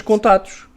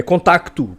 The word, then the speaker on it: contacto: empresas privadas ou cont ningém diz contatos é contacto porque o c não é mudo Quer dizer Nós andamos